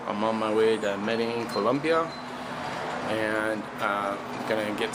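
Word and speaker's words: Medellín: my way to medellin you'll notice that earlier in this video i'm referring it to medellin when it's medellin and i really don't know why but that's how it's pronounced so you must pronounce it that way and um i was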